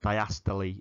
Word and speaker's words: diastole: Now, you can just write diastole, but diastole is how we pronounce it.